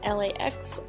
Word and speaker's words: LAX: For my lips, I use ColourPop liquid lipstick in LAX or Lax, however you want to pronounce it.